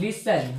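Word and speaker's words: listen: पढ़ते हैं लिस लिसन लिसन लिसन मेरे दोस्त लिसन भी पढ़ते हैं ऐसे भी पढ़ते हैं लिसन पढ़ते हैं तो लिसन में टी साइलेंट होता है क्या होता है टी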